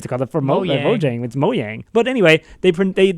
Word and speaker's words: Mojang: learned that during this conference that mojang is pronounced mowing I did not know that that changes everything